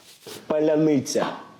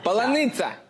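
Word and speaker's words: паляниця: La prononciation d'un mot trahirait les Russes. Tout se joue à une voyelle. Cette vidéo humoristique circule sur Twitter. Поляныця. Поляница. Еще раз, давай. Па. Ля. Ня. Ны. Ня. Полоница.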